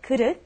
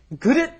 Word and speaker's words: 그릇: And let's say 그릇 is very difficult to pronounce. Right. 그릇. Okay, you've got that vowel that's very difficult to pronounce in English. 그릇 for those of us who speak other languages.